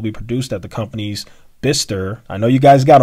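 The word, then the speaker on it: Bicester: production and will be produced at the company's bister i know you guys got on me for this i can pronounce it now the company's bister facility in the uk and q2 and it's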